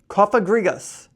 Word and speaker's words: Cofagrigus: ready for this all right cough a grigos cofagrigus CAG gas type ghost this Pokemon has a